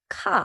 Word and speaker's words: 칼: 카 칼 R.